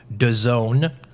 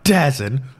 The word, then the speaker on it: DAZN: be rectified very shortly when they premiere on DAZN. Is it DAZN? It's DAZN. Oh, man, it's such a hard thing to pronounce.